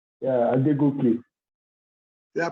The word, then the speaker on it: Adegoke: Adegoke, is that correct? Yeah, Adegoke. Did I pronounce it right?